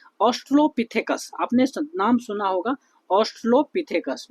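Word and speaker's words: Australopithecus: देखिए, तो सबसे पहली बात जो है, ठीक है, ऑस्ट्रोलोपिथेकस, आपने नाम सुना होगा ऑस्ट्रोलोपिथेकस, मैं शॉर्ट में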